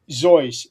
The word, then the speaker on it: Seuss: Zoyce. That's the correct pronunciation of his name.